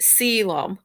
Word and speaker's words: coelom: called a column so coelom is actually spelled c-o-e-l-o-m but you pronounce it siloam so kind of like salem but selam but